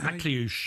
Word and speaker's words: Akliouche: I can't pronounce his name. Akliouche, is that? Akliouche, yes.